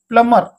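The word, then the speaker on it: plumber: silent এটি প্লমের ওকে প্লামার যেটা কি আমি বি সাইলেন্ট করে প্লম অর্থ পাইপ মেকানিক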